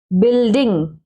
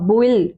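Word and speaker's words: building: बिल्डिंग, बी अब बुइल, बुइल नहीं बोलना, बिल्डिंग, नो, बिल्डिंग, BIL, bill DING, डिंग, बिल्डिंग मीन्स इमारत।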